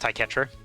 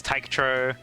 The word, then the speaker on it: Taetro: Was this meant uh my name is meant to be pronounced Taetro. Sometimes people say it as Tyetro. I I see people pronounce it like Taichettoro. And I'm like, where did you get that O from between the T and the R?